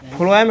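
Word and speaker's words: phloem: कि हो सकता है फ्लोम का स्पेलिंग बताइए क्या होता है पी एच ओ एल ई एम पी एच ओ एल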